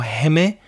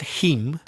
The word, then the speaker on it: heme: But I think it's pronounced heme. Heme? I think so. And you know the word hemoglobin? Yes. It's the heme from hemoglobin.